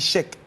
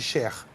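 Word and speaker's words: Cheick: Là, ça se prononce Cheikh parce qu'il est malien. Donc, on dit Cheikh. Au Sénégal, on dit Cher.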